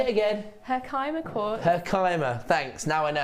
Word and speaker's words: Herkimer: What's the most interesting thing you know about Herkma Quartz Hannah Osprey her quartz is by Say it again Herkimer Thanks Now I know how to say it